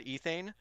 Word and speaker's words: ethane: So let's say I want to add ethane.